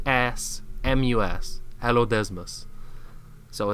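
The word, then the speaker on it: Allodesmus: it's this big hairy seal with big-ass teeth it's spelt a ll o d e ass mus hello desmos so it's an ancient big-ass seal and that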